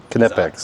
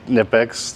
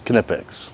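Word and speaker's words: Knipex: Kipex. Yeah, you pronounce the K cuz it is German. Kipex. I'm probably I'm probably going to say Nipex for my own sanity,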